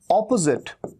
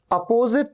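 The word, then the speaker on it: opposite: ये है ऑपोजिट, ऑपोजिट, जिट। यहां पर भी एस का साउंड ज का साउंड है, ऑपोजिट, अपोजिट नहीं, ऑपोजिट, अपोजिट नहीं, अ नहीं, ओ।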